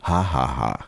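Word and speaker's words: jaja: Oh, it's the letter the letter J is pronounced like an H. It's actually haha.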